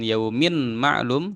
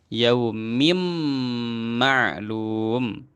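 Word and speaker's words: يَوْمٍ مَعْلُومٍ: Maka jangan yaumin ma'lum tapi langsung masuk yaumim ma'lum.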